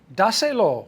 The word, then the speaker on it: dáselo: Dáselo. One word. D-A-S-E-L-O. There's an accent on the A.